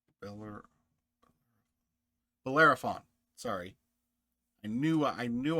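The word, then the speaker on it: Bellerophon: You've got the Iliad, the Cersei, the Balefon, Ber Bolerafon.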